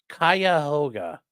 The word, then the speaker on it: Cuyahoga: It's pronounced Cuyahoga.